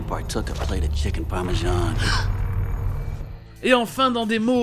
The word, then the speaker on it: parmesan: Un autre exemple de hyperforeignism, c'est dans le mot français parmesan, qui se prononce en anglais parmesan, comme un J français.